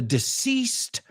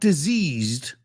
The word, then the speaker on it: deceased: inadvertent presence of a deceased young woman deceased not diseased disease diseased I